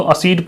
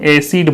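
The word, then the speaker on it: acid: होता है सर, तो इसको असीड पढ़ सकते हैं क्या? नहीं पढ़ सकते हैं। क्या करेंगे? इसको हम एसिड बोलेंगे, ए सी और ड, एसिड, ठीक है।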